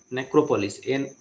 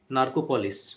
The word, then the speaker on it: Narcopolis: Necropolis. Oh, sorry, I pronounced it wrong actually. It's not Narcopolis. Sorry. Narcopolis.